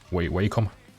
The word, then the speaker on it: Wacom: How do you pronounce it? Wacom.